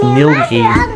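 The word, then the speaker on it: Ngilgi: please tell me so we're at milgi caves it's pronounced nilgia and we're heading in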